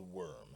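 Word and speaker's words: Wyrm: is a force called the worm spelled with Y so it's more like a dragon rather than an earthworm and it is a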